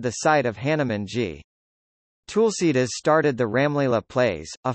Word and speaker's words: Tulsidas: Using the Hunterian transliteration system, it is written as Tulsidas or Tulsidas, reflecting the vernacular pronunciation, since the written Indian languages maintain the vestigial letters that are no longer pronounced. The lost vowels are an aspect of the schwa deletion in Indo-Aryan languages and can vary between regions.